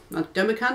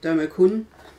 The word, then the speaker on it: Domo-kun: a few derma con dummy con is that out of it now I'm pronouncing that properly domo-kun I've got a few